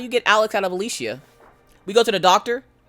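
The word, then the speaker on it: Alishia: say it correctly so my first name is Alicia Alicia it is spelled a-l-i-s-h-i-a I get Elisa Alicia Alicia Lisa I've gotten Lisa quite a few times Lisha which is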